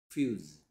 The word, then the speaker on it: fuse: 여기서는 이는 몰래 가지고 있는 소리 뭔데? 이에어 이, 에, 어인데 여기서는 소리가 나지 않는다.